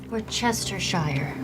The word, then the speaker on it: Worcestershire: Wor-cest-er-shi-re. Worcesters? Worcestershire. Worcestershire. Worcestershire. You're right. I mean, it's spelled so differently than the way that you actually say it.